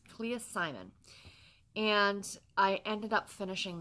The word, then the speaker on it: Clea Simon: by Clea Simon I think I said her name wrong yesterday so I do apologize but it's Clea Simon and I ended up finishing this one again